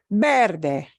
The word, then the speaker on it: verde: Verde. Ends in a vowel. We punch this syllable more, harder.